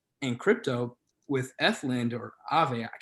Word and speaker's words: Aave: Whereas in crypto with Ethlend or Aave, I don't know how you pronounce it now. I think it's Aave. I think it's Aave, yeah.